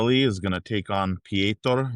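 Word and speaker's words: Petr: Um, Rob Dwallis is going to take on Ptor Yan. That's how you say it, I guess, in in his native language. Per, but it's spelled Peter.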